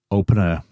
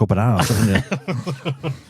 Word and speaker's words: Open Air: radar was blood stock open air open air is it right I've been saying it wrong You' been saying bloodstock open hour you just a little